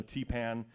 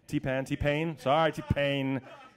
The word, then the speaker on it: T-Pain: For the most recordings, you have this, you know, T-Pan has that kind of sound that's very mechanical. T-Pain.